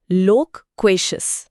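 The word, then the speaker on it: loquacious: लोकशियस लोशियस। यहां बात थोड़ी दिलचस्प हो जाती है। उच्चारण है लोकशस।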